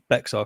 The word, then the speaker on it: Bexar: got like be um Bear County if I'm saying it's pronounced Bear County how dare you I'm